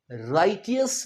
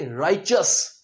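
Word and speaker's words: righteous: अब इस शब्द में हम इसे राइटियस नहीं कहेंगे। राइचस च उच्चारेंगे हम। राइचस।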